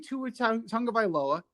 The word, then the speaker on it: Tua Tagovailoa: But knowing Tua Tagovailoa, hey, I said it right.